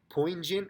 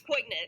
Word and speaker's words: poignant: poignant i don't know i don't know if i'm saying that word right poison or poignant i think it's poignant yeah yeah i i